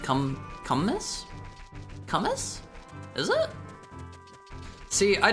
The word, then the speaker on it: kumis: Kumis?